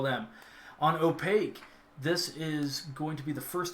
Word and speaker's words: Opakue: a mix-up on bam word pronounced just like opaque got it opaque thank you brother all